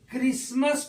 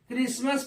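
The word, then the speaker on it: Christmas: पढ़ते हैं ऐसे ही सी एच आर आई एस टी एम ए एस क्रिस्मस पढ़ते हैं क्रिस्मस पढ़ते हैं यहां भी टी क्या होता है सेलेट एम एटी सीच मैच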